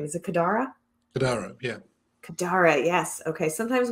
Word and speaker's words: Kadara: learn more about lando's daughter how do you pronounce her name is it kadara yeah kadara yes okay sometimes when i read